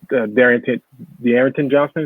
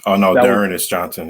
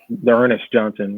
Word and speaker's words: D'Ernest Johnson: it's hard to say you missed on, but Darrington Johnson, is that how you pronounce his name? From the Browns. D'Ernest Johnson, yeah. D'Ernest Johnson.